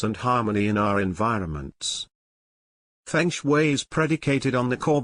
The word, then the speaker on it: Feng Shui: The ancient art of placement called Feng Shui, pronounced Feng Shui, literally means wind and water.